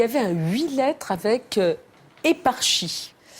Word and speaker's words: éparchie: Et il y avait un huit lettres avec éparchie. Euh, ça c'était difficile d'ailleurs. Est-ce qu'on prononce comme ça ?